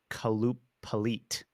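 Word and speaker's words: Qalupalik: them I guess they're it's pronounced kaloop pit now these are kind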